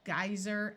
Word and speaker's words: geyser: survey and and convey in these two words the ey will have a long I sound geyser and I a geyser